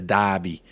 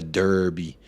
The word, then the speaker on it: derby: for the watch long it's a Dobby not a derby it's a North London Dobby do I don't have